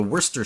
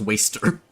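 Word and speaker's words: Worcester: Is the uh the worester shotgun or I believe it's supposed to be pronounced waster.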